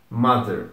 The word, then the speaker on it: mother: Mother. Tome cuidado com esse TH, então tem um pouco daquela língua entre os dentes. É mais sutil do que em outras palavras, então é mother.